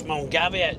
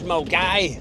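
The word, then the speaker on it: Milngavie: What's Mulgavi? This is Mulgai.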